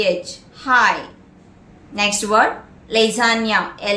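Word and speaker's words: lasagna: H high next word लजानिया एल ए एस ए जी एन A Veda the जी is silent lesion या lesion lesion means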